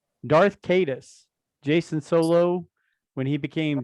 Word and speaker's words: Darth Caedus: Darth Caedus, Jason Solo, when he became Darth Caedus, is that how it's pronounced?